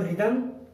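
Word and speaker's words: rhythm: तो रिदम और राइम में आर के बाद एच आया और हम यहाँ पर एच साइलेंट रखेंगे, यहाँ पर एच की आवाज नहीं आ रही है, तो ये रिदम और राइम।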